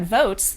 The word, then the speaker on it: Voatz: A briefing filed to the Supreme Court states that Votes, that's spelled VOATZ, they're a Boston-based e-voting